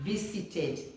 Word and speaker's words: visited: next one is vit vited not visited but V z v the S changes to Z okay then this T